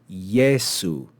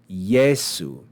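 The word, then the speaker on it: Iesu: ye that first e that first vowel actually acts like the consonant y as as we say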